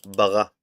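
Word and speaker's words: ברא: This is how we say in the beginning, and created is bara in Hebrew.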